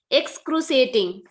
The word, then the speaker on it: excruciating: Then excruciating. On the day when we climbed the mountains, at night I had an excruciating leg ache. An excruciating. Sure, it is a sure sound. Excruciating.